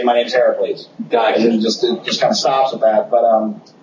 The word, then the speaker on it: Heracles: The books will start with Heracles, which we're actually using the Greek pronunciation of his name. He's not called Hercules, he's called Heracles.